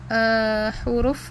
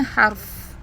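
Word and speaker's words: حرف: Kalau huruf itu harusnya bacanya harf, bukan huruf.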